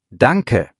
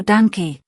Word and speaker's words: Danke: Und Achtung bei der Aussprache, Danke hat ein kurzes E am Ende, also Danke. Nicht Danke, ja?